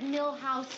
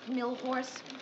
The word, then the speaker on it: Milhous: Grant asked me to remind you it's Richard Milhouse Nixon, not Millhorse.